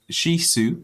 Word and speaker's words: Shih Tzu: uh desert please say hello to Bisley the Shih Tzu or the shisu as it's actually pronounced two years old as of May 12th